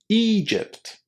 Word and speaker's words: Egypt: Egypt. Egypt. Are you one of the students who has a problem pronouncing this long e sound at the beginning of this word?